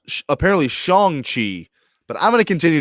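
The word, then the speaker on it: Shang-Chi: chang chi now um now you keep saying chiang chi that's his name shang you're saying chang like like change is it shang shi well actually it's pronounced apparently shang chi but i'm going to continue to say okay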